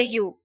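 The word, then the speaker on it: ewe: ram and a female sheep is called a you pronounced as you they eat stems leaves berries and seeds tapir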